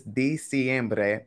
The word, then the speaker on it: diciembre: Okay, so the correct way you spell it is diciembre, but that second letter is going to be E. It's an I there. Diciembre. So you have to remember that the vowels always sound the same in Spanish.